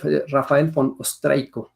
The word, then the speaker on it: Raphael von Ostrejko: Rafael von Ostreico se pronuncia, y se considera el inventor del carbón activado.